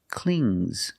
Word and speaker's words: clings: an S I hear clings clings it's a soft G not clings but clings example the baby the